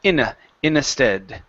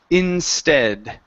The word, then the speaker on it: instead: at the very beginning you said in instead okay so take out the extra vowel in between the n and the s the word is INS instead instead good one more